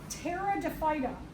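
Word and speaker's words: Pterophyta: group are called the Terra defa the p is silent Terra def these are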